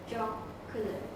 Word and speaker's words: jocular: Jocular means someone who likes to joke.